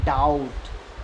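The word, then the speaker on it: doubt: यू वे टी देखो टी से पहले बी ए गया तो इसे पढ़ेंगे डाउट जैसे दी ए बी टी इसे कई बच्चे पढ़ने हैं डेट जब की डेप्थ पढ़ना गलत है जबकि इसे पढ़ने हैं डेट क्योंकि बी साइलेंट है ऐसे ही साइलेंट सी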